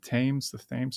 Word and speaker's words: Thames: kind of a pleasure boat that's going up and down the Thames. I always mispronounce it.